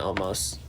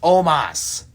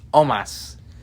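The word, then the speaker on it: Omos: us aj styles and almost there's no a in his name it's pronounced omas it's almost it's omas it's almost whatever we're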